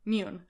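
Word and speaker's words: Muun: Mune.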